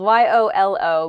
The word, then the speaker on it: YOLO: you can use btw next is really spelled y-o-l-o but it's usually read as an act as a new word it's it's pronounced yolo and it stands for you only